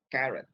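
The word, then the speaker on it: caret: the top in english they call it karen karen c-a-r-e-t not carrot not vegetable but that carrot okay c a or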